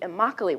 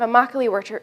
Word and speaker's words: Immokalee: in south florida called the immokalee workers rhymes with broccoli gained international significance by